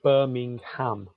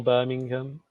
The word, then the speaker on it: Birmingham: that's that's how yeah because when you look at it written down it's birmingham but we never say the ham we said birmingham yeah because it's shorter